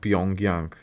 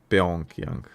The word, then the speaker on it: Pyongyang: It's pronounced Pyongyang. Pyongyang.